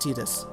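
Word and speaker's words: Tidus: 10 the main character actually and yes it's pronounced Titus okay so don't get so don't get mad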